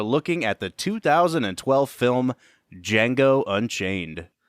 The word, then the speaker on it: Django: at the 2012 film D Jango Unchained the D is silent the D is silent Brad how you doing